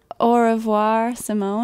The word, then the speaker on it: Au Revoir Simone: I think we should really pronounce the name of our band, because maybe people can't. Oh, it's Au Revoir, Simone.